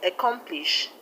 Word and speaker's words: accomplish: And the word accomplish, the stress is on COM, COM, come.